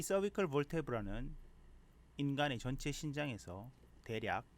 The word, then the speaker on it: vertebra: 목척추뼈라고도 하고 cervical vertebrae로 이렇게 쓸 수 있습니다. vertebra의 발음은 이름절에 강세를 주는 것이 보통이고요. 형용사인 vertebral일 때는 이음절에 강세를 줘도 된다고 사전에 나와 있습니다.